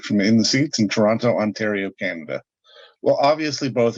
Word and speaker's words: Toronto: this thank you man i'm surprised to hear the hard t in your pronunciation of they always tell us it's toronto and i'm like i